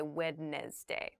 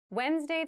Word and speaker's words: Wednesday: but keep in mind this is pronounced Wednesday There's a d there but we don't say Wednesday we say Wednesday the 18th Wednesday the